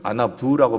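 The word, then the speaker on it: עָנָו: 이 아나우, 히브리 아나우의 의미는 뭐냐면 아나부라고 발음하거든요.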